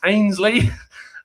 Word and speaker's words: Ainsley: correct me and go and it's excuse me mate um it's pronounced ainsley and uh yeah i